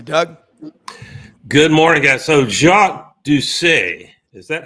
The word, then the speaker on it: Jacques Doucet: So Jacques Doucet, is that how we would properly pronounce it, Jacques?